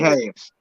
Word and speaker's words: Ahaz: Yeah, 20 Ahaz.